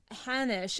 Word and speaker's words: Hanosh: We're here today with Danielle Hannish. Am I saying your last name right? Yep. It rhymes with Spanish.